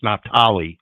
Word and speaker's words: Naphtali: I was just going to say he's pronouncing that terribly wrong. It's Naphtali.